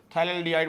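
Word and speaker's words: phthalaldehyde: थैलेडिहाइड बोलते हैं इसको। थैलडीहाइड हैं। तो थैल्डिहाइड में पीए आपका साइलेंट रहेगा।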